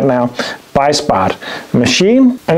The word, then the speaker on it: Beissbarth: Beissbarth machine, and it's really a simple thing, but so clever still.